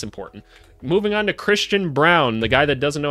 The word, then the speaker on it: Braun: pronounce his own name it's definitely Braun they're just what's wrong with his family why do they think that his name is brown it's just not correct it just isn't right but anyway let's